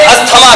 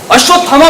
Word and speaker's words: अश्वत्थामा: अरे अश्वत्थामा नहीं, अश्वत्थामा प्रोनाउंसिएशन सही। ओके दादा। अश्वत्थामा। चलो। ये मेरा धनुष, धनुष ये अस्थमा का। अबे अस्थमा टीवी नहीं है, अश्वत्थामा मेरे भाई, अश्वत्थामा।